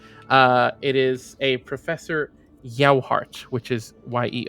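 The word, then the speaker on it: Yohart: I I forget I should have written a pronunciation guide alongside the names I wrote down uh it is a professor yoart which is ye o h a r t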